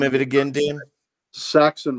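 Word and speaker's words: Sachs: Saxon Violence. Saxon Violence. There but we go. But it's spelled S-A-C-H-S.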